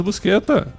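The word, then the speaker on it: Buscetta: O Tomas Busqueta, mafioso tava no Brasil também.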